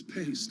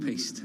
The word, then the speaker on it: piste: Is that how you pronounce it? You go off piste and then you. Oh, that was paste. I'm sorry. No, you go off piste.